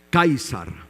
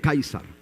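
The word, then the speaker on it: Καῖσαρ: dice en griego a ver si lo recuerdan kaisar muy bien en griego kaisar en griego César kaisar sí Y también otro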